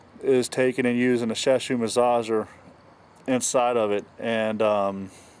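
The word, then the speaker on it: Shiatsu: Yeah, but what I did was I used a Shashu massager, that's how you pronounce it, to make the stick go around,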